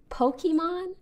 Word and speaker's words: Pokimane: That's why it's actually supposed to be pronounced Pokemon. Okay. But I understand in English, this just reads as Pokemon.